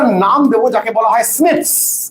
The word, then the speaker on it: SNPs: আজকে একটা নাম দেবো যাকে বলা হয় স্নিপস।